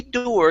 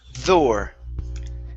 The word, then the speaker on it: door: But when you say door, you use a Spanish D. No. You say door.